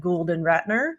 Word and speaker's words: Gould Ratner: He is the Chief Marketing Officer at Gould Ratner. Did I just mispronounce that again?